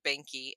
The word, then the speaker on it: Behnke: occurs to me that we're saying the word Banky and maybe everybody is not familiar it's spelled be h n ke so obviously a German and German spelling and I'm gonna give